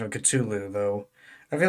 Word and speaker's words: Cthulhu: And there's one who now has made canon in my D&D universe a romance book called Cthulhu and Bardiet.